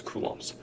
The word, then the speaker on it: coulomb: unit is capital c we pronounce that as kums um Elementary charge is